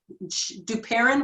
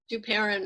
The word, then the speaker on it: Duperon: Duperon rhymes with Sharon. Duperon, right?